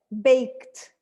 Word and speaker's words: baked: in silent consonant sounds what do we have to add here to unvoice sounds we have to add an unvoiced sound let's say it like that baked baked i baked a